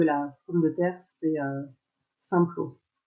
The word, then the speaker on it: Simplot: pomme de terre c'est Simplot. Je prononce à la française.